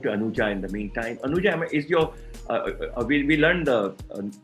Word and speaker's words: Anuja: Anuja, is your, we learned the pronunciation of your organization, but is Anuja the right pronunciation of your?